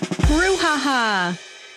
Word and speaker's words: brouhaha: Now, without further ado, today's word of the day is Brouhaha, spelled Brouhaha, pronounced brouhaha.